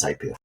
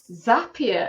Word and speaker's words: Zapier: they've never come across it before what is zapia well the first thing I'm going to do Ryan is correct you in terms of the pronunciation because it's actually zapia and lots of people do this um zapia have a kind of a what would you